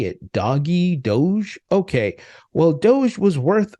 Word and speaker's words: Doge: when when he uh said this I have doggy coin is that how you say it how do you say it doggy Doge okay well Doge was worth a thousand dollars